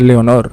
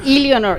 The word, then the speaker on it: Leonor: Like no, yeah, in Spanish is Leonor. Sí, Yes. Leonor. It's not Eleanor, it's Leonor.